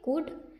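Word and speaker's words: could: कुड इसे हम क्या पढ़ेंगे कुड बिकॉज इसमें एल क्या है साइलेंट है जो साइलेंट होता है उसका उरण नहीं किया जाता तो कुड नॉट अलीप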